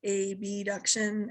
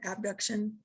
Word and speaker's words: abduction: When they come out to the side is abduction, abduction. And when they come back towards the center, back towards the body is adduction, like adding to the midline, or AB, abduct, to take away.